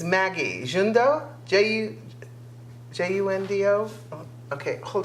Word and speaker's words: Maggi: It has some, it's pronounced, it's Maggi.